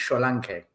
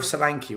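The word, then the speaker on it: Solanke: he he he corrected me on how to pronounce Sanki's name it's Scholank Nigerian Solank you need to understand he came on my channel as Solankke's countryman trying to sell me the idea of Solanki right this is how I got to know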